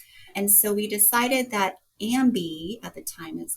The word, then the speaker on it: AmBi: And so I stepped away from the leadership of AmBi, which later then became rebranded as AmBi, pronounced like I am bi.